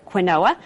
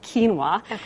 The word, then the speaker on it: quinoa: few years back and you often hear people pronounce it quinoa because that's what it looks like on the package it's q i n o a but it's actually quinoa and um you can you know you can